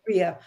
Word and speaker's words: Rhea: I'm getting her name wrong. Rhea, R-Y-A, Rhea.